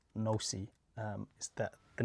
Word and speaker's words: noC: Okay, so the first stuff that the language is pronounced NoC, is that the name actually wasn't created by me.